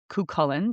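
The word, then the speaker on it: Cú Chulainn: The Cuchulainn. Cuchulainn, that is correct.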